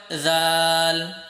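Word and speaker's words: ذال: উচ্চারণটা খেয়াল করবে, জাল। তুমি সা যেরকমভাবে উচ্চারণ করেছিলে, তোমার জিহ্বার আগাটা সামনের উপরের দুই দাঁতের আগার সাথে গিয়ে লেগেছিল, জালের উচ্চারণ সেম জায়গা থেকে জিহ্বার আগা দিয়ে একদম নরম করে উচ্চারণ করতে হবে, জাল।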